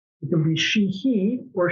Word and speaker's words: Sheehy: And when your name is Sheehy, it can be Sheehy or Sheehy. The Irish pronunciation would be Sheehy.